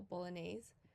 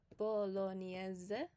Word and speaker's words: bolognese: So you kind of act like there's a Y after the N. So lasagna, I think a lot of people know how to pronounce that already. You just apply this rule to other words that also have GN. So in English, what we call bolognese is actually bolognese.